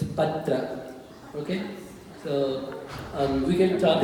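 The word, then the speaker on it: पात्र: It's a fine difference, but you need to pronounce the Pa as a Guru. So, it's not Patra, it's Patra.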